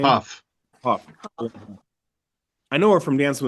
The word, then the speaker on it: Hough: Juliana Hugh, or how do you say her name? Puff. Huff.